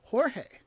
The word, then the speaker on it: Jorge: do that with is jorge right like early on i learned that george is jorge in spanish right so if a